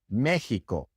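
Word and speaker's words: México: connection examin but there are a lot of place names especially in Mexico in which the X is pronounced like an H in English Mexico and in the few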